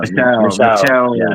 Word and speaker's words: Michel: mean, well, I guess And how do you pronounce? Is it Michael or is it Michel? Michel Pereira.